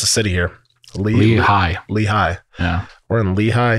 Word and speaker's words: Lehigh: And how do you pronounce the city here? Lehigh.